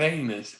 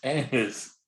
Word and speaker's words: anise: Not anus, anise.